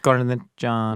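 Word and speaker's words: cornicione: The correct answer is cornion. Corn. Corn. It's pronounced corn john.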